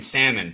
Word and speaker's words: salmon: The L is silent in salmon, bro.